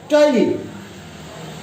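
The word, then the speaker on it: ptyalin: ये साइलेंट है, टाइलिन, amylase या टाइलिन.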